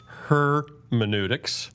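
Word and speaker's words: Her.meneutics: But the problem is that the second syllable in the name is men. Hermeneutics. So it kind of comes out in the wash.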